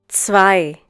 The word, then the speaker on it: zwei: Zwei. Once again, Zwei. The German consonant C is pronounced like the English TS sound that is found at the end of words such as Matz, Potz, Bitz.